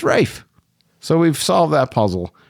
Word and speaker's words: Ralph: also found out that Ralph is not really Ralph in the UK for some reason they just dropped the L that L is silent but I've heard some people call him Ralph it's Rafe so we've solved that